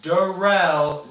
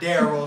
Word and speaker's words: Derell: comes and checks out derell not darl say his name right like dude and I